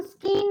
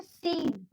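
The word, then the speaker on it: scene: सी आ रहा है तो सी हो गया साइलेंट। इसको हम स्कीन नहीं बोलेंगे, हम इसको बोलेंगे सीन।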